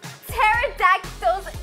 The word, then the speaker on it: pterodactyl: can't you hear okay pterodactyl's tea in the bathroom nazareth i just said this joke because the p is silent but that's okay that's